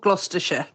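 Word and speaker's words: Gloucester: It's called Glouester.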